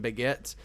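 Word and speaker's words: Bagent: liking baguette you know Tyson baguette I know that's how you say his name but I'm saying how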